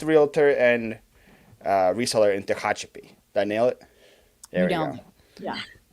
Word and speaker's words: Tehachapi: best reseller and realtor in how do you pronounce where you live Hachi Pachi or something like that that's where I live what's the problem pronunciation uh Tehachapi it's a oh it's close yeah American name